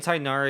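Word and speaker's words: Tighnari: it in the comments I'm saying tainari because that's just how they say like that's literally how they say it in English like I said from what it says the actual pronunciation is even though we can't really pronounce it at all it's a hard G so it'd be TIG in that area beans of titanari's race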